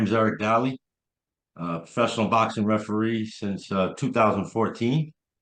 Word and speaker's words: Dali: So today I am sitting here with Eric, pronounced it like Dali? Dali, yes.